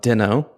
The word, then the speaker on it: Deno: OAuth app with Deno.